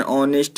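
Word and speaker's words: honest: H silent रहता है, जिन शब्दों में एच साइलेंट रहता है उनसे पहले एन का प्रयोग किया जाता है, जैसे an hour, an ऑनेस्ट मैन।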